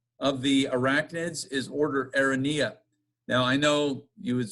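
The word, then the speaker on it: Araneae: or Benny I anyway I asked a spider biologist who was teaching at Lynchburg College his license plate had that word on it and I said well how do you say that word anyway and he said Aaron yeah so that's what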